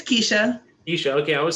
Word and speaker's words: Keshia: It's Keshia.